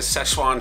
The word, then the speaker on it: Szechuan: But if you watch the sail away video, we had some trouble saying Szechuan chicken.